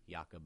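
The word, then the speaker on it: Jakob: are all his photos yakob Moser but that's spelled like Jacob with a K but yakob and that was really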